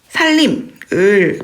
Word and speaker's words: 산림: 자, 우리가 이 살림을 발음을 살림으로 하지 않습니까? 그죠? 살림으로 하지 않습니까? 그렇지만 표기는 산림으로 표기하는 게 맞죠.